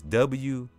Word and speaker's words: wuxing: In the Chinese tradition, water is called, let me see, it's W-U-X-I-N-G, if I can say it right. It said wuxing, I guess that's how you pronounce it.